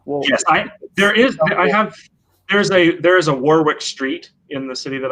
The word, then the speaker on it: Warwick: Yeah, and that's why they have problems with things like Warwick, which has got a W. Warwick. Yes, there is a Warwick Street in the city that I live in, and people do pronounce it Warwick.